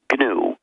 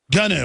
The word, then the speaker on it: GNU: Well, actually, no. It's pronounced GNU. GNU, I know.